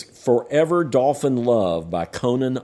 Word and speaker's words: Connan: And this is an album called Forever Dolphin Love by an artist called Conan Moccasin. And Conan is spelled Connan, and Moccasin is spelled Mockasin.